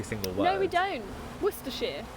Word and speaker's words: Worcestershire: Worcestershire. We don't say Worcestershire, do we? I know. We just skip words and letters, and Americans get confused.